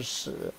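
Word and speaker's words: 豕: It's another character called pronunciation shi.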